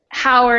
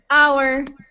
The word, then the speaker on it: hour: But it's funny because a lot of those words get mispronounced, like honor. People say honor instead of honor, and hour instead of hour.